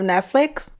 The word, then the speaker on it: Netflix: There's no S at the end of Netflix. It's Netflix. Netflix. Netflix. Yeah, with an X. There's no. Netflix. You're right. There is no S. It's Netflix. Netflix. Flix, like flicks.